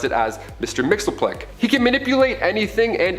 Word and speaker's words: Mxyzptlk: His real name doesn't even translate into Earth's languages, but we collectively pronounce it as Mr. Mxyzptlk.